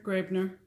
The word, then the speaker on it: Graebner: Graebner? Graebner.